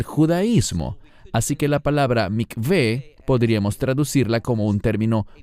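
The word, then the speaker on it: מקווה: Normalmente los mesiánicos que hablan inglés lo pronuncian como mikvah. No es mikvah, es la palabra mikveh.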